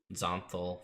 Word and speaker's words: Xonthal: Zonthal, for those of you who want to spell it, is Xonthal.